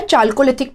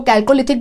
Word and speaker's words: Chalcolithic: आप यहां पे देखेंगे कि यहां पे हमने लिखा हुआ है चाल्कोलिथिक पीरियड, कुछ लोग इसको कैल्कोलिथिक भी बोलते हैं, अब जो प्रोनाउंस करना चाहें आपकी मर्जी है।